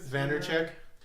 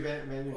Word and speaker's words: Vaynerchuk: Vandercheck? Gary Vaynerchuk.